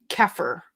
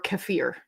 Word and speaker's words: kefir: Um, I used to love love love water keer or kefir depending on how you want to pronounce it.